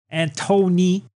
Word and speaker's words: Anthony: got them singing they're Antony is it Anthony or Anthony it's Anthony and I hate it Daniel loves spell Anthony yeah but it's they say Anon silent h Anthony he's all like